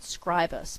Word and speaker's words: Scribus: But I have a feeling that Scribus, they pronounce it Scribus, but I was a Latin teacher once. And this word's in Latin pronunciation, the I would be a long I, E, Scribus, Scribus, I don't know where they get that from.